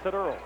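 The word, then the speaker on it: Tadearl: His first name is spelled T-A-D-E-A-R-L, pronounced Taduro.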